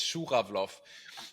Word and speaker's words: Schura: It's really hard to pronounce. Right. Sometimes I have difficulties myself, and it's my and it's my surname. It's Schura.